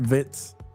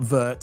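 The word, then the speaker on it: Wirtz: Vitz, not Vert. He's a vit. Uh, that's a German way.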